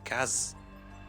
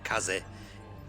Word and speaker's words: Kaze: But this ain't the Book of the Dead, this is actually a digital pinball game by Kaz, or Kaze, for the correct pronunciation.